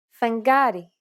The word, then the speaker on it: φεγγάρι: When these double consonant combinations are within a word and after a vowel, they are usually pronounced with nasalization, and they sound like this. Ng, φεγγάρι, ng, εγκοπή, μb, αμπέλι, nd, ένταλμα.